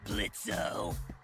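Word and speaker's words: Blitzø: in it uh-huh sure blitzo the O is silent now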